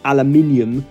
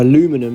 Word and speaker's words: aluminium: manufacturer the formula for transparent aluminium or aluminum as it's pronounced in North America was this lad supposed